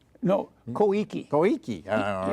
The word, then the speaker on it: Koike: Abe in the election, Yukio Kyoke? No, Koike. Koike, all right. I hope I have not heard the name pronounced, but I hope my Japanese pronunciation is correct.